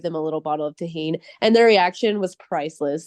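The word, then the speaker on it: Tajín: And I was like, "First of all, you have to say it right." And I made them say it right. And then I gave them a little bottle of Tahine and their reaction was priceless.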